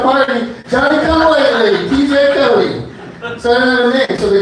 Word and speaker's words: Cote: My last name is Cote, spelled C-O-T-E. Very easy to spell and very difficult to pronounce, as it were. Back in the day when people called the homestead, they'd say, "Is Mr. Cote there?" My dad said, "You might want to check your foyer over to the mudroom.